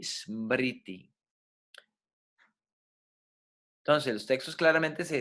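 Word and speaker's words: स्मृति: Escuchen la pronunciación, Shruti y Smriti.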